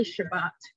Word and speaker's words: Shabbat: Sabbath is in reference, well, we say Shabbat, which is the Hebrew pronunciation, is remembering the seventh day of creation.